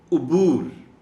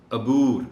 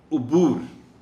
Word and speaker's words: عبور: خاص توجہ چاہیں گے۔ عبور عین پر پیش ہے، عام طور پر لوگ اس کو غلط پڑھتے ہوئے عبور کہہ جاتے ہیں۔ عبور تعلق، اس سے پہلے